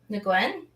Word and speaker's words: Nguyen: That I say Nagayan. How do you say it? Nguyen? Yes. That's the real way of saying it.